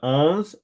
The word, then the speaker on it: Ons: is your bird so what she says is owns Jaber so maybe not Jabor Jaber owns Jaber okay I will I will keep my job okay there it is your bird okay Nicola says owns minorus Covey when I was in the military